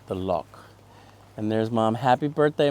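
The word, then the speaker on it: loch: Get the Lannon family outing with the lock behind the I gotta say it right, the lock.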